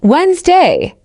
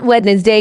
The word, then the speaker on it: Wednesday: Let's begin one pronunciation not pronunciation gives pro nai con example her pronunciation is improving every day to Wednesday not wedness day gives a w nd d example our meeting